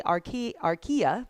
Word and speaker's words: archaea: We have ourselves a bacteria, we have ourselves a archaea, is how you say it, and then eukarya.